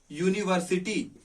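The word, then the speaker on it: university: अगर इसको प्रोनाउंसिएट किया जाएगा तो हिंदी में क्या लिखा जाएगा, यूनिवर्सिटी। अब इसका पहला लेटर क्या आ गया, य। क्या हमारी मात्राओं में कभी य आता है, नहीं आता।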